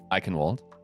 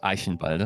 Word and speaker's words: Eichenwalde: So we're of course on Eichenwald, or Eichenwalde, if you want to have it pronounced authentically.